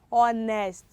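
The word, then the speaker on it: honest: h we have might silent h we have or nest or nest we can't hear the letter so i wanted to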